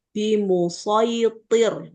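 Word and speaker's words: بمصيطر: Nah, ini kebanyakan imam qiraat itu bacanya dengan huruf shad. Ya, memang tulisannya shad ya, Bu. Tapi ini dianggap ayat garib. Jadi sesuai sama riwayat dari dulu dibacanya seperti itu. Bimusitir gitu di surah alghasiyah ayat 22.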